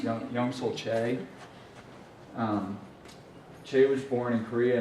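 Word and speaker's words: Choi Yong-sul: His name is right here, and it's pronounced Young-Sul Che.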